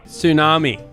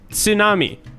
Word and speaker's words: tsunami: really exist in english tsunami is pronounced with a silent t yeah i'm just saying